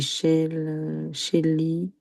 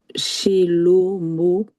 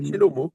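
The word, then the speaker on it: שלמה: Alors là, c'est Shelly, Non, c'est un O. Shello, Shello, même, Ah, Shello, il y a les deux points là, c'est des O. oui, Shelomo, Voilà, Shelomo, Shelomo.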